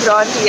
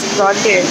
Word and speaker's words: Bronte: I've been saying it wrong the whole time. My cab driver corrected me. It's actually Bronte. I thought it was Bronte.